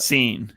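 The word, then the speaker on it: Cine: down um about is it Louis chin or sign how you pronounce it seen it's actually pronounced there you go nailed it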